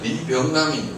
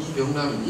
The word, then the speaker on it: 리병남: 이 오른쪽 상단에 계신 분들은 이분 이름은 이제 리병남인, 우리나라 발음은 이병남인.